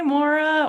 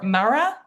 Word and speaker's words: Maura: Hi, Maura or Mara? Maura? Hi, Laura. You said it right the first time. Maura.